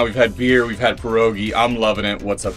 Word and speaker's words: pierogi: audience as well because I've been pronouncing it wrong my entire life I call these pierogies tell us the real way of saying it so you would say pierogi and the difference is